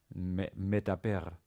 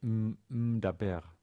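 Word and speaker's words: מְדַבֵּר: For instance, as in medaber, the first sound of m is one of these. You can't say daber.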